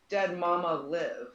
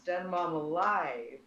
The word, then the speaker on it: DeadMomAlive: And I've had people pronounce it um, dead mama live. And I'm like, no, it's dead mom alive.